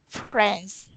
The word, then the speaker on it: friends: Friends. Friends, friends, friend. Eh. Oh, the IE is pronounced like an eh sound.